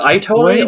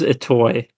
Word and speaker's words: Itoi: I think it is a toy. Yeah, Itoi.